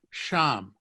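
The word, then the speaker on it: שם: can have there and there in hebrew is sham sham so how would you say i there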